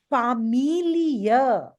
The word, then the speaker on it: Familie: all, please hear it, Familie. Familie. Yeah. Familie. Familiar. Yeah. Amelia. Familie. Familia. Yes. Familie. Familia. Yes. Year sound has to come at the end.